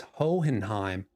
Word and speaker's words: Hohenheim: It's Hohenheim. It's pronounced Vaughn.